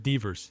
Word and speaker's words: Devers: Devers.